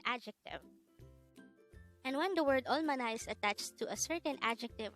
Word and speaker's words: 얼마나: hangout word number 251 this is pronounced as a three-syllable word the first little voice oil second syllable is ma third syllable is na pronounce it with me the word almana is used to ask